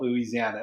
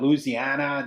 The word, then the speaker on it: Louisiana: So he gave me all the true pronunciation, like Louisiana, not Louisiana.